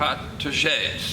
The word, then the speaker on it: protégés: Protégés.